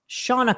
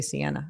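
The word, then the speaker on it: Seana: Shauna Collins. I always Shauna Collins. Her name is spelled S-E-A-N-A, so I always say Sienna, and I'm always wrong.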